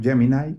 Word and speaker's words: Gemini: basado en su herramienta gemini o gemini como ellos se pronuncia en inglés e que ha sido